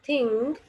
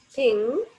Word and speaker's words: thing: It is ing as in thing, thing. So don't pronounce g. Though there is G in the spelling of THING, but we should not pronounce G as G here. Just we have to pronounce this word thing, or in other examples, working, playing. So the last G should be silent.